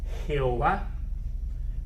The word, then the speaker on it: Jehová: está traducida al español nosotros lo pronunciamos más como jehová pero también puede decirse como ave o web ese sistema de pronunciación